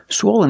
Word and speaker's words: swollen: about this word swollen swollen is an adjective for the first syllable use the long o like no and go swo swen swollen the second syllable is not stressed it sounds like this Lin Len swollen swollen the adjective is swollen